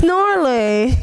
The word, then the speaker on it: gnarly: Oh, dude, it's gnarly. Gnarly, is it a word? Gnarly is a word. It's a slang from the 80s. But it's gnarly, dude. So the G is silent.